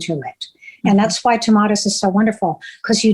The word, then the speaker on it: Tomatis: Is that how you pronounce it? The Tomatis? You did great, Tomatis.